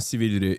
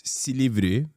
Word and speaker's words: Silivri: He said it wrong. It's not Silivri. It's Silivri.